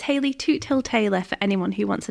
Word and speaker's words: Hayley Toothill-Taylor: can say my my full name so it's Haley toot till Taylor for anyone who wants to know how to pronounce it I got this great thing planned